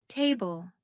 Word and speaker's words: table: For example, table. Stress is on the first syllable.